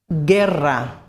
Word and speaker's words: guerra: As you can see, we have a U in the middle there, which isn't pronounced. Guerra, war. Ge, as in guerra.